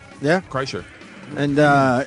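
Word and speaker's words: Kreischer: your last nameer you said it right yeah Cher and uh it's bird Cher ker on Twitter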